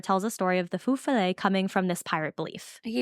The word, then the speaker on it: Feu Follet: a story of the Feu Follet coming from this pirate belief. I keep feeling like you're going to say Foo Fighters. I know. Well, that's how I remember how to say the first part.